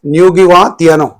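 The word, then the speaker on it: Ngũgĩ wa: Achib writer and here Nugiwa because you know I have practiced the pronunciation of this name because you know on the internet I have searched for the name of this writer and it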